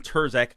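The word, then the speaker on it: Turscak: This guy's name is John Terzak, I believe is how it's pronounced. I'm assuming that the C in it is silent.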